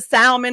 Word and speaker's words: salmon: She said, listen, I want the merlot and the salmon, and she pronounces the L in the salmon. She's like, give me the salmon and the merlot, and every other word out of her mouth is the F word.